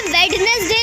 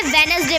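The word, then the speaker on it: Wednesday: हम इसे वेज एज हम इसे वेडनेसडे नहीं पढ़ेंगे हम इसे वेनसडे पढ़ेंगे हम इसे हैंडसम पढ़ेंगे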